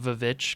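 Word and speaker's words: VVitch: goat head yes it's it's also like the vich because it's spelled with two v's oh okay okay yeah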